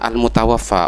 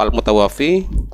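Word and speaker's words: al-mutawaffa: dari orang yang bertanya seharusnya membacanya adalah al-mutawafah orang yang diwafatkan atau yang dimatikan bukan ilmu tauhid kalau al-mutawafi ialah orang yang mematikan maka ya pantas seorang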